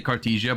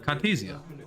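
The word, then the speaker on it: Cartesia: Yeah, I can say Cartisia, but in German we call it Cartasia. I don't know what you want me to say. German pronunciation is different.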